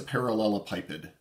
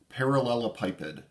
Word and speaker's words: parallelepiped: difficult parts of this next concept is just pronouncing this damn word it's a parallelopipid parallelopipid parallelopipid so imagine that you take a bunch of